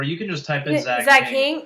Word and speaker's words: Zach Hing: Or you can just type in Zach Hing. H-I-N-G rhymes with king, right? Yeah. King. That's another guy. No, but Zach Hing with an H rhymes with king.